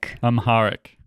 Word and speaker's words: Amharic: Amharic, is that how you pronounce it? Amharic.